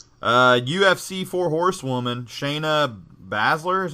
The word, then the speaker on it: Shayna Baszler: I've never been right uh UFC for horsewoman Shayna Baszler is how you say her name i don't